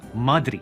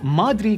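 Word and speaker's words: مدري: We say madri. You see, madri comes from the official word or 2 words, ma, edri. But sometimes locally what we do is we fuse them together. So it becomes madri.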